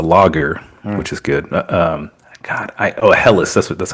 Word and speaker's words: Helles: A Helles.